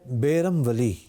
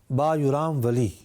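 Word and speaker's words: Bayram Veli: University بھی قائم ہے۔ آپ کے نام کے 2 تلفظ ادا کیے جاتے ہیں، ایک ہے بیرم ولی اور دوسرا ہے با یرام ولی یا با یرام ولی۔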